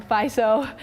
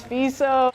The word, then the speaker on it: Fiso: And I remember one time he said my last name wrong, Fiso, and I had to correct him. I was like, I'm sorry, but I know you're Kobe, but it's Fiso.